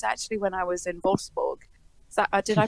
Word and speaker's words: Wolfsburg: In fact, I remember one of the last times I noticed that was actually when I was in Wolfsburg. Is that did I pronounce it right?